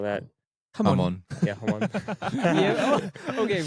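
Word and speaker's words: jamón: Hamon. Yeah, hamon. Yeah. Okay, but to be fair to Matt, it's spelled with a J, right? Yeah. Yeah. Yeah. Jam on.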